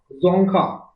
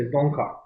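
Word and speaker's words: Dzongkha: पूछ सकता है आपको लैंग्वेज का नाम है जोखा डी जड ओ एन जी के एच जोखा और आप करेंसी का नाम है गुल तरम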